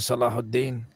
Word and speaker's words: Saladin: Es gab damals in einer früheren Zeit einen Kriegsführer, der hieß Saladin. Auf der arabischen Sprache ausgesprochen heißt er Salahuddin.